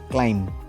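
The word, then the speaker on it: climb: আমরা জানি বোমা সেরকমই নেক্সট ওয়ার্ড কি আছে ক্লাইম্ব তাহলে এখানে আমরা কি বলবো ক্লাইম্ব এর লাস্টের যে বি সাউন্ডটা সেটা সাইলেন্ট থাকবে এটা কি হবে ক্লাইম্ব অর্থাৎ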